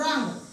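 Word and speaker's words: wrong: असतो असं लिहीत असतो आपण रॉंग मग आता त्याचं जर ऍक्च्युली जर बघायला गेलं तर काय होऊ शकते मग आर ओ एन जी रॉंग होईल पण नाही याची स्पेलिंग ऍक्च्युली कशी आहे डब्ल्यू आर ओ एन जी काय आहे डब्ल्यू आर ओ एन जी मग येथे काय झालेलं आहे हा डब्ल्यू जो शब्द आहे हा काय आहे मग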